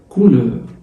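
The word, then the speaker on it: couleur: اللون بالفرنساوي كولور، كولور بس اللون بالفرنساوي كلمه مؤنث مش كلمه مذكر زي العربي لون، لا هنا اللون مؤنث. اون كولور، كولور، كولور، كولور. الاي واليو والار بتتنطق ار تبقى اون كولور.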